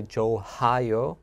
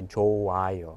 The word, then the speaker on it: 좋아요: So I would not say 좋아요. Mm-hmm. I would just say 좋아요.